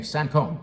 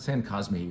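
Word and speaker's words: Saint-Cosme: easy to enjoy is its name sancom that's how you say it all right it's not Sam cosme or Saint cosmet or at any rate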